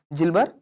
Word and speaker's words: Gilbert: it is called as Gilbert syndrome okay okay jilber syndrome okay some people call it as Gilberts it's actually the the pronunciation is Gilbert Syndrome okay so deficiency of